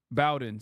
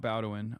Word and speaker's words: Bowen: Bowen, sorry, not Bowin. I always say it wrong.